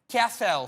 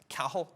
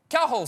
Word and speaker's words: Cathal: tango hotel alfa lima cathal sir it's pronounced kahul kahul sir i believe it's irish sir charlie alpha tango